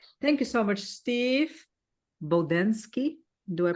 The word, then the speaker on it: Bodansky: Oh, they may sound more like how you pronounced it, but I pronounce it Bodansky.